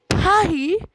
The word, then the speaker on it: Paris: Paris is pronounced Paris in French.